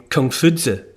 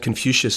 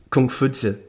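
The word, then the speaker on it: 孔夫子: everyone's heard of Confucianism confucious is a corruption really of the name Kung fud it wouldn't have been pronounced confucious in China 600 BC it's Kung fud he was a bureaucrat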